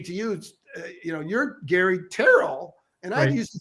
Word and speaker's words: Tyrrell: It took me a while, Gary, because I used to say to you, you're Gary Tyrrell, and I used to say Tyrrell, and I'm thinking, what a dummy.